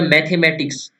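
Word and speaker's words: mathematics: ये था मैथमेटिक्स, ना कि मैथमेटिक्स।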